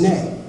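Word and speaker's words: 네: Now, in Korean, the word no is pronounced anyo. Okay, which is funny to me because the word for yes is nay.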